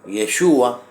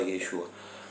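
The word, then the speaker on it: ישוע: santidad Jesús que es nuestro ejemplo a seguir yeshua es un hombre correcto bien pronunciado pero bueno nosotros en en Latinoamérica le decimos Jesús cto su nombre bien pronunciado yeshua pero claro qué decía él santifícalos en tu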